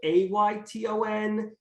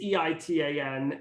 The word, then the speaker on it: Eitan: also just listening, my name is spelled nothing like it's pronounced. That is correct. Eitan. You can search on all platforms and follow me. Eitan, you might be like Ayton, Aytan. It's Eitan. And does that make sense?